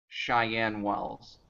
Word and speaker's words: Cheyenne Wells: um over St Francis over CH Chen Wells Cheyenne Wells thank you pronunciations Cheyenne Wells learn new every day um